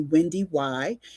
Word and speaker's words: Wendy Y: wendy y and most people call me wendy y yes you do pronounce the second why and i'm a 20-year